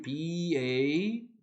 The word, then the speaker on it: bathe: bathing이 아니고 이게 B-A-T-H-E예요. T-A-B-A-T-H는 bath라고 읽죠. 이거는 bathe라고 읽어야 돼요. 이거는 목욕이고 이건 목욕하다. 동사일 때는 E가 하나 더 붙고 발음이 달라져요. bathe라고.